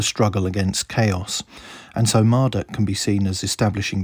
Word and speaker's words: Marduk: is the dragon mushushu marduk whose name was likely originally pronounced as marotuk was associated with the